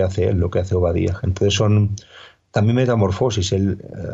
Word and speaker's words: Ovadiah: Y ese nombre es el nombre que en hebreo se pronuncia eh Obadía, pero en digamos en